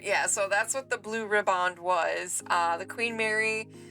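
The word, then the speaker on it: Blue Riband: voyage on May 27th 1936 and won the Blue ribbond um Steve said that's how you pronounce it that August the blue ribbond was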